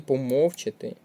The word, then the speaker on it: помовчати: слина на перший склад і помовчати на другий склад правильний варіант оцей четвертий